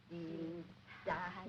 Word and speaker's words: Dienstag: Sonntag, Montag, Dienstag, Mittwoch, That is good. But pronounce the words broader, so Sonntag, Montag, Dienstag, yes?